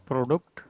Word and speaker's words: Produkt: Um, Just say it like a German person. Produkt.